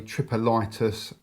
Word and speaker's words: Tripolitis: which is called uh I believe it's pronounced a tripus tower tank okay so let's have